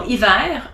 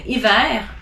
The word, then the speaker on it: hiver: You don't pronounce the H if it's in the beginning of a word. So as an example, hiver, heure, histoire, hasard, haricot, honte.